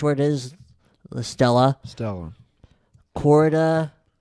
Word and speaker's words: Quarta: Quarta. Q-U-A-R-T-A. And then Quarata. Then Latin is like Spanish where there's no silent letters. You say everything okay. that's there.